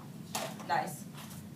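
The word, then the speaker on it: gneiss: Nice. Huh? It's pronounced nice.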